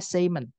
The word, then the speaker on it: salmon: jenis-jenisnya ikan contohnya ikan salmon itu bacanya Seon salmon itu tunggalnya adalah